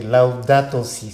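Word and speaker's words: Laudato si': Vous avez bien prononcé, Laudato Si, c'est bien, félicitations.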